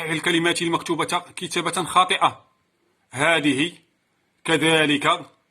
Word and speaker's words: كذلك: كما هو الشأن بالنسبة لكلمة كذلك، كتبت بشكل خاطئ. إذن إذا اتصل اسم الإشارة بلام البعد تحذف الألف كتابة أي رسما وتثبت نطقا.